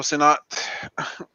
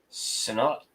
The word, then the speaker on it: Sinnott: This is just a 3.0, and it's signed by I think let me pronounce it right, Joe Sinnott. Sinnott.